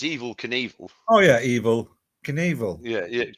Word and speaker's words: Knievel: Now, it just rhymed with. Oh no, it doesn't rhyme with it, does it? Oh. Yeah, it does. Evil Knievel.